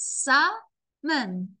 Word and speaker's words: salmon: shallow water the salmon don't say the elves salmon salmon Min it's like a m-i-n salmon salmon the salmon